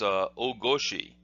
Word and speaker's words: ogoshi: Another example of that might be for the hip throw that we'll see in another video is ogoshi. Well, the Japanese word for hip is not goshi, it's koshi.